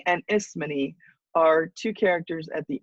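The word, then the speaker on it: Ismene: servants those are pretty obvious but antigon and isman are two characters at the end that I wanted to pronounce for you Antony and isman are edus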